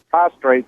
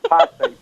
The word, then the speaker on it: prostate: oh okay yeah well my dad he has prostrate trouble he's always said I have prostate trouble prostrate so you lay down too much